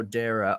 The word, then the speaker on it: Dara: Rhymes with Sarah, so Dara.